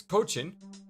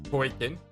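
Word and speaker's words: Coachen: It's Cochin, not Koikin.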